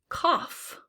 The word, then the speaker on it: cough: Cough. I think that fits right in here with these other ones.